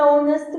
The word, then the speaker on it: honest: vogal, porque às vezes eu tenho hour, que é a palavra hora, que começa com H e o H é mudo, então an hour, ou an honest person, ele é uma pessoa honesta, que honest também começa com H, que é uma consoante sem som.